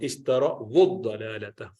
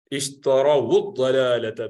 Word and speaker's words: اشتروا الضلالة: So ishtarau, and then when this wow needs to be connected to the dad, which is mushaddad, the first dad is silent, sakina, so you have to combine together to do dhamma. Ishtara wud-dalalata.